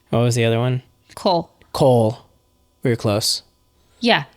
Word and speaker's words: Kol: Cole. Cole. We were close. Yeah, Cole. Spelled Kol. Pronunciation. Cole. Cole. Sounds like pole.